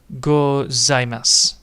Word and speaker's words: gozaimasu: So this one is actually long spoken out. So zaimasu. Zaimasu, because it's a long vowel. You speak it out in as one syllable. So it's domo, arigato, arigato, gozaimasu.